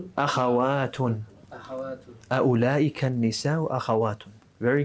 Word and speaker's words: أخوات: Oh, with a fatha at the beginning. أخوات. أخوات. أخوات. أولئك النساء أخوات. Very good. Remember, أخوات is for أخت.